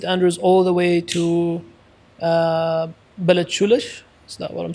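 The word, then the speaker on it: Ballachulish: I had lunch, and then I drove from St Andrews all the way to Beletchulish.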